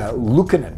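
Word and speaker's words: Lukkonen: And I've just looked out, Lukanen is how you say the goaltender's last name.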